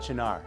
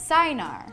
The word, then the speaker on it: Cynar: its most mispronounced we're talking of course about janar which Jesse used to pronounce sign R okay this coming from someone who admits that